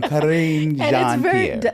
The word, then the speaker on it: Karine Jean: Karine Jean.